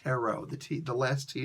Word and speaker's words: Tarot: this one yes for the same conversation it's pronounced Tarot the teeth the last he is silent at